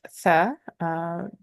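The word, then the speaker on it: ثاء: Say if you were saying the sound for seen, but you had the tip of your tongue between your teeth or touching the top teeth, like for zal, exact same placement of the tongue, the tip of the tongue.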